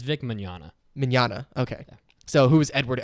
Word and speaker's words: Vic Mignogna: mmm manana thank you I always want to say Vic make eggnog it's vic Mignogna manana okay so who's